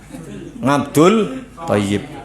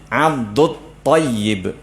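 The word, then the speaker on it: Abdut-Tayyib: Cuman agak sulit pengucapannya bagi kita orang Indonesia. Enaknya pakai dul. Ngabdul tayyib. Ngabdul tayyib. Wah, enak nih. Cuman kan pengucapan yang tidak fasih. Abdud tayyib. Ya, ta ini tebal ya, jadi agak sulit dikit.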